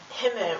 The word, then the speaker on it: Himmel: For example, the word Himmel, which means sky or heaven. It's spelled Himmel, and because there's an MM, the I is pronounced short.